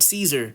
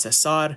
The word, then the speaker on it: Cesar: Cesar Salazar uh you know his name isn't Caesar Don't Call Him Caesar because he isn't a